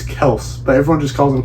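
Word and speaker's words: Kelce: because it's not pronounced Kelsey that's why that's my number five the kelse brothers apparently it's pronounced Kels and not Kelsey and everyone's been wrong the whole time I mean commentators I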